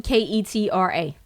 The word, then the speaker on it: Ketra: But I don't know if they pronounce that Ketra though. Okay. No, excuse me. It's actually Ketra. So Ketra, okay.